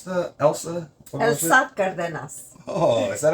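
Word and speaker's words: Elsa Cárdenas: spoke Spanish so go figure how do you pronounce the Elsa Elsa cardas oh is that how you pronounce it Mari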